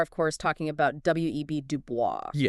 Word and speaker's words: Du Bois: It is Dubo with a hard accent on the last syllable.